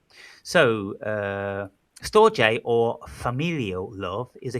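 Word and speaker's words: storge: So the next uh one number three is stoj and it's spelled s t o r g e but it's pronounced stoj. So uh stoj or familial love is a kind of failure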